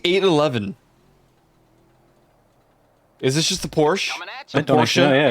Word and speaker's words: Porsche: No, you just, in German we pronounce all letters, so you have to pronounce the E.